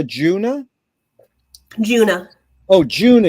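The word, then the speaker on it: Djuna: pronounce her D Juna junah oh Juna you don't pronounce the d yeah the D silent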